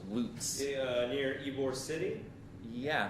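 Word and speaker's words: Lutz: in Florida uh loots uh spelled l-u-t-z pronounced loose near Ybor City yeah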